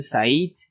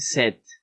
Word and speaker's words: said: It sounds like to say in Spanish, tengo sed. Ya, es como decir en español, tengo sed. Ya, no se dice said, okay, se dice sed con la E.